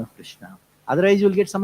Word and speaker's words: Krishna: Krishna, in this word Krishna, there are two varnas. Varna means syllables. Krish and Na.